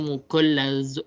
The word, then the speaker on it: mughallazah: Hai dan najis mughallazah ini mughallazah mughallazah Tapi bacanya mughallazah mughallazah Saya ulangi ya najis